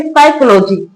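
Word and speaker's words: psychology: है तो इसको पढ़ेंगे साइकोलॉजी। पी साइलेंट रहता है। साइकोलॉजी की स्पेलिंग तो आपने बहुत जगह देखी होगी जहां पी लिखा होता है बट पढ़ा नहीं जाता।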